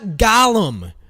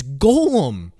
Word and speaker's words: golem: you have to understand where gol it's not gollum hey guys it's not gollum it's gollum that's how you pronounce it it's golem because it's based off of um jewish uh